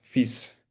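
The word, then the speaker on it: fils: Entonces uno dice monfis fis. Ahorita vamos a pasar a cómo se escribe, pero uno lo dice fis con s.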